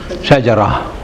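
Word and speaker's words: شجرة: Shajara. You pronounce the last one as ha.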